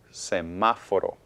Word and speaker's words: semáforo: The stress is on ma, and that's the third to the last syllable.